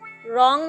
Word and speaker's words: wrong: Next word हमारे पास है रॉन्ग means गलत। रॉन्ग की स्पेलिंग है WRONG। अब आप बताएं इसमें कौन सा वर्ड साइलेंट है? WRONG। यहाँ पर वर्ड साइलेंट है W हमारे पास साइलेंट है।